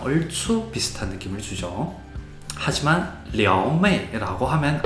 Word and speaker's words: 撩妹: 하지만 려메이라고 하면 안 된다라는 겁니다. 려메이라고 해야 되고요.